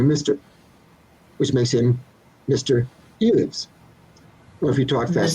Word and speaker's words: Elives: Elives. Elvis. Yes. Yeah, it's I get all kinds of Eloise, E-Lives. E-Lives is actually correct, and here's why.